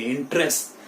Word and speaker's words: interest: इंटरेस्ट. Again ये वाला जो पहला ई है वो इसमें साइलेंट है मेरे प्यारे बच्चों, माय डियर स्टूडेंट्स. इसमें ई जो है वो साइलेंट है.